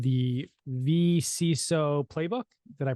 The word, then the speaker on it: vCISO: One exciting thing is you just published a book called the vCISO Playbook. Did I pronounce that right?